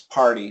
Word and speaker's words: party: example party party party so it's better to think par D it's better to think D part D what's important to remember